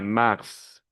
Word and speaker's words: mars: c'est bien attention mars le s il faut le prononcer mars lun prononce le mois